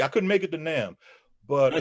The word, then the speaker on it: NAMM: No, actually I couldn't make it to NAMM. But Did I say it wrong? Did I say it wrong on my show? I said nom.